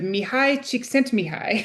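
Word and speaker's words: Mihály Csikszentmihalyi: It's his name is Mihi Chic sent Mihi.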